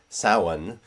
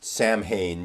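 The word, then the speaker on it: Samhain: people think is pronounced samhane because it's spelled s a m h a i n but that's not how it's pronounced in Irish um and so simonios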